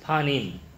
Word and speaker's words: panim: the Old Testament uh uh it it it's pronounced as panim p a n i m all right that